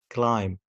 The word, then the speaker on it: climb: Okay, as you see, the first one, if you have a word and this word ends with MB, لو عندك كلمة والكلمة دي بتنتهي بMB, don't pronounce the letter B. Like bum, climb, limb, tomb, plumber.